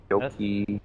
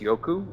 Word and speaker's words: Yoku: Yoki. I know it's pronounced Yoku, but I just keep saying Yoki.